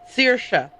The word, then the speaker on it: Saoirse: Saoirse. That's what it was. I mispronounced it earlier. Saoirse Murphy is the cook.